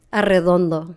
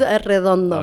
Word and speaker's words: Arredondo: Arredondo. Arredondo. Oh, okay. That's a tongue twister. Yeah, Arredondo. Yeah, it's Arredondo. Okay, you got to roll your R's.